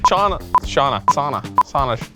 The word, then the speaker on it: Sauna: So I kept mispronouncing Shauna and doing a bunch of takes where I said Shauna wrong. Sauna. It's sauna. That's the name of the company I found out.